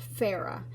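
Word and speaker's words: Phoera: I think it's pronounced fairer I think these zero the O in there isn't the zero the O in there is silent pH o er a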